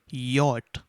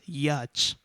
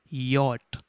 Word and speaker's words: yacht: color and students please note this word is pronounced as yacht many of you pronounce this as yacht that is the wrong pronunciation this is yacht talk watch and i want to repeat this